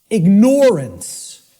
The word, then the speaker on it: ignorance: pronounced I tell people start pronouncing it ignorance ignorance then people will hear the word ignore in it and and the connotation becomes clear it means you're ignoring it ignorance okay